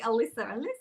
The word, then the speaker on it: Alisa: So always calling me Alisa, and I'm like, oh my goodness. I don't know why people get it wrong either. It's just Lisa with an A in the front, right?